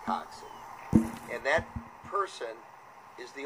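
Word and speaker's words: coxswain: boat who does not row it's called a coxin spelled Cox c-o-x Swain but it's pronounced coxy and that person is the only person who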